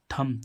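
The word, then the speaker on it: thumb: है गूंगा ऐसे ही इसमें टी एच यू एम बी थम थम मींस अंगूठा देखो बी के पहले एम आया तो ब साइलेंट हो गया इसमें भी ऐसे ही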